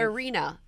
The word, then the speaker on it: Irina: Irina.